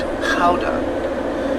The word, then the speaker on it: gouda: Over here we have a raw milk camembert, and right here my personal favourite, the smoked gouda, or in the Dutch pronunciation, smoked gouda.